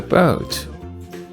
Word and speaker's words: boat: I want to help you with the boat. Page 34. No new words here on this page, so we read from the top. Here's Peter with the boat. OA sounds O. Boat.